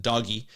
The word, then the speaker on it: DOGE: But he pronounces it doggy, and don't let anyone tell you otherwise.